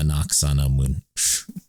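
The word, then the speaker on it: Anck-su-namun: Noxanamun.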